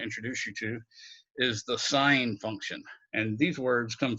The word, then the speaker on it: sine: But sine is the way you spell it, but we use the abbreviated SIN, and that's the sine, that's read the sine of theta, the angle theta.